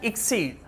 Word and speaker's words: exceed: अक्सीड, right pronunciation अक्सीड, right pronunciation एक्सीड।